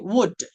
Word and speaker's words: would: COULD coat, WOULD వుడ్. ఇలా చాలా పదాలు తీసుకోవచ్చు. Whenever you find the letter L as a second letter from right side, the L must be silent letter majority of the times.